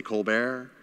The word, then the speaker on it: Colbert: like oh yeah okay Stephen Colbert spelt like Kolbert but people say Colbert The Colbert Report yeah